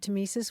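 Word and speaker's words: tmesis: I did want to talk about the word tesis we should spell it because it's an oddly spelled word it's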